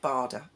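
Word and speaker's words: Bader: mine and Graham's Douglas Barda wonderful guy if you've never heard of him please look him up it's actually spelled b-a-d-e-r but pronounced bada he was a prisoner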